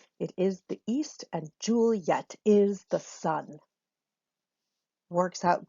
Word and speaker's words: Juliet: and zhu-li at cuz that's what we say her name Juliet three syllables Julie yet but it doesn't work